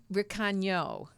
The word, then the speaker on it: Recano: Recano, right?